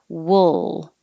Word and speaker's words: wool: a whole different vowel the vowel is uh like took wool so wool you could